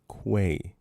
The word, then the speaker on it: Quay: pronounced I'm Quay. looking. Interesting sounds come back. Say it with me now. Pizza. With a Q. Let me see Quay. this. Quay. Quay, Not not key.